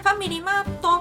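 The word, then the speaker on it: ファミリーマート: no Japão se chama Family Mart em japonês se pronuncia Family mato e para facilitar a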